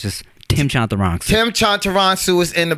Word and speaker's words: Chantarangsu: is my just long-ass Thai last name, Tim Chantarangsu. I retired the De La Ghetto like a year and a half ago, so now it's just Tim Chantarangsu.